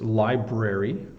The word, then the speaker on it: library: the BR so it's library library I'm going to the libr library to get some books but often people um get lazy and don't pronounce the r and it's incorrect and